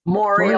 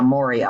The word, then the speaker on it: Moria: Moria like Gloria. Yeah, Moria.